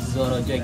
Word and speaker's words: Zorojoy: Bacanya kan Z dulu terus J gitu. Jadi Zorojoy. Dan jangan lupa kita budayakan kalau setelah makan kita tumpuk di tengah.